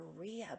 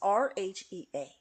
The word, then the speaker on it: Rhea: of which is the Raia bird. Am I pronouncing it right? I don't know. It's Rhea.